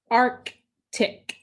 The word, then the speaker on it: Arctic: This word is Arctic, Arctic. The accent was on the first syllable.